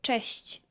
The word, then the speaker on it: cześć: Es cześć. Cześć. Ujú. O sea, te... Es CZ y lo Ah, pronunciamos claro.